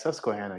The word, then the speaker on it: Susquehanna: on doubling down did you have a seizure pronouncing yeah it's susquehanna you have to be from the east coast